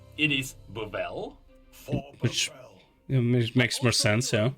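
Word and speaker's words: Buvelle: we learned that the family's name is not pronounced beautifully it is babel it makes more sense so the dependent squire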